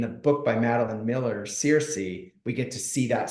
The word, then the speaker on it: Circe: And I am not going to pronounce this right. Circe. Oh, Circe.